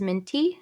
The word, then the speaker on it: Mintea: name is and my artist name is minty it's spelled mi NT EA and I'm a musician